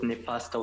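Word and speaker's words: Nefasto: My nickname is Neifasto. And it is very important to pronounce it with Nifasto with an S rather than with a double T.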